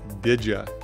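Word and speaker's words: didja: simple word so first up is the word digia d i d j a and it's short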